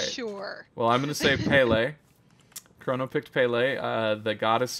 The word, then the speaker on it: Pele: picked the god hey is it is it Pele is that how you pronounce it sure alright sure well I'm gonna save Pele Corona picked Pele the goddess of volcanoes and